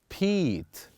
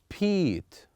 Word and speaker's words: Pete: But when we add E, then it will be longer. The word will be Pete, Pete, Pete.